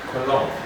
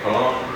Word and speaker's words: cologne: and you find that we don't have G present in our writing, because what we are able to hear is that the G is not pronounced. So assign, then Benin, Benin, and campaign, campaign, champagne, champagne, and cologne. I like the cologne that you are wearing.